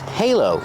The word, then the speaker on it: halo: The word is pronounced halo with a long A, like say and day.